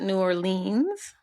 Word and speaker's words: New Orleans: You pronounced it New Orleans? New Orleans. New Orleans. Whoa. You pronounce the E and the A. New Orleans. I guess because it's kind of like Orleans, Oh, okay. Yeah, that's the way they pronounce it on public radio.